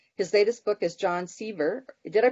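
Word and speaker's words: Sevier: His latest book is John Sever. Did I pronounce that correct, Gordon? Sever? John Sever. Sever.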